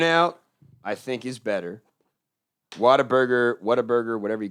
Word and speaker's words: Whataburger: yeah you know what i think it actually is pronounced what a burger but yeah because we're going to be like oh whataburger what a burger what a burger yeah yeah it's not whataburger that's people just water burger that's just people trying